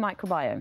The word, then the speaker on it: microbiome: I thought it could have been microbiome. I mean, what exactly is it? No, you got it right. It's definitely microbiome.